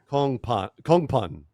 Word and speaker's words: Kongphan: I will say Anthony's name is pronounced Kongphan, right?